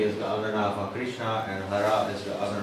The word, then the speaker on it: Krishna: And Krishna, just with a short A at the end, is the vocative form of what in the nominative form would be Krishna with an H and a dot at the end.